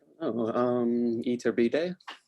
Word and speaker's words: Iturbide: So it's like basically her photographs, this woman, Graciela Iturbide. I don't know how to say her last name. I'll probably be the first to say. Cole, how do I pronounce that? Iturbide.